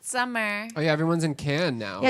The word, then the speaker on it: Cannes: proper way to say Cannes or can? Cannes. Can. Tomato, It's not. tomato, It's not everyone's- con, It's and it's not can. can, but it's can. Cannes. Can. Cannes. It's Like like toucan.